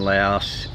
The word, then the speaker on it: Laos: By the way, the Lao in Laos just call themselves Lao, not Laotian. And Laos is pronounced Lao.